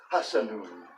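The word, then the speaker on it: حسن: And because I'm an Arabic student, I'm going to pronounce the last vowel here in the phrase, even though that's typically not done. So I would say wa ra'a Allahun nura annahu hasanun.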